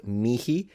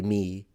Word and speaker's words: mihi: This in classical Latin can be pronounced mihi with an actual aspirated H, or you can just say me.